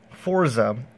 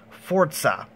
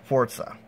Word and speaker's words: Forza: pronounced to get right this time it's not pronounced Forza as most of you guys would say it it's actually pronounced Forza you don't believe me go look it up it's actually pronounced Forza so anyways this is the first ever for